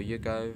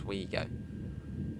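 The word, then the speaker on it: OUIGO: On the WeGo services, I think is it WeGo or Yugo? I don't know how you say it. I think it's WeGo. It's like O-U-I go, WeGo.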